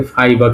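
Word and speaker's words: Ф: ভাষায় কি বলা হয় গোল দিয়ে মাঝখান দিয়ে ফাকা করে দিলাম হচ্ছে না আমার ভালো এইযে এটাকে আমরা বলতেছি এবং উচ্চারণটা হবে কিসের মতো?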